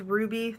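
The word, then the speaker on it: RWBY: really likes that show I think it's pronounced Ruby the are wby show most of our panel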